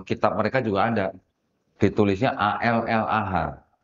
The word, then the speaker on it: Allah: mereka juga ada ditulisnya a l l a h kalau kita baca ini bacanya Allah jangan baca Allah karena di dalam sini kan enggak ada tasdidnya bu ya gitu ya Nah